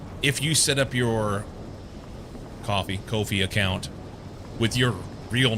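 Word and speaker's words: Ko-fi: pronounced like coffee.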